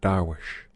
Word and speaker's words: dervish: to a company of dervishes. They themselves pronounce it Darwish, accompanying one of the caravans rooms.